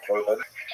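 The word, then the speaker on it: חורבן: They tend to use the Hebrew term korban, which we pronounce the Ashkenazi pronunciation korban, which ties the Holocaust to the great destructions of temples in Jerusalem in ancient times.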